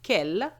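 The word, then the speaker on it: quelle: have a feminine word we will have Kell same pronunciation but with double l e address what is your address assuming that the word you have is address then you can have the same words but with an S and the pronunciation will remain k k what are your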